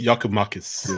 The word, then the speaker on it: Giakoumakis: Beautiful pronunciation, Sydney. On, say it again, Sydney. Jorgis Giakoumakis.